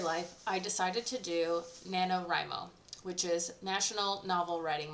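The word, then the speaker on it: NaNoWriMo: was like huh that's uh that's how it's pronounced cool got it so I did Nano rimo and last time I did it it was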